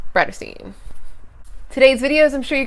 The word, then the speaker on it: Bratterstein: name is Brittany and my channel name is pronounced raita seen today's videos I'm sure you gather from the